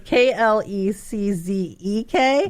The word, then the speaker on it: Kleczek: And Kleczek is spelled just like it sounds, Kleczek. Just how it sounds. I was like, Kleczek. Okay, that was Klezzek.